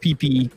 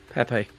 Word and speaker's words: Pepe: And I call it PP. Some people call it Pepe. I don't even know how to say it. How do I say it? What do you call this thing? Pepe. Not PP.